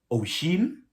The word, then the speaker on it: Oisín: So that apparently means Oisín, and the other one is Róisín. That's how you pronounce the two.